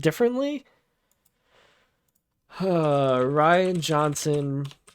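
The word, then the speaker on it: Rian: of all time the Last Jedi directed by rhianne Johnson say his name normal say it the way it's it's pronounced Am I Wrong is it pronounced differently uh Ryan Johnson pronunciation okay let's watch this all right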